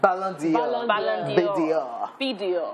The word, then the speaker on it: Ballon d'Or: And this one is called, how do you pronounce it? Ballon d'Or.